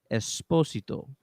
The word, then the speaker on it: Esposito: there in the internet you pronounce his last name esposito i don't know who got it wrong the first time esposito esposito esposito sort of like just let it roll just i can't escape